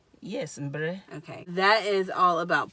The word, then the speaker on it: mbre: So, mbre, it was easy. It wasn't. Mbre is, like she said, the overarching term. Am I saying that right? Yes, mbre.